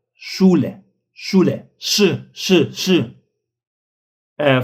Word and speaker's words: Schule: for the consonants like s c h it is sh sh not s but sh sh Yeah you this is a little bit like not Schule, but Schule.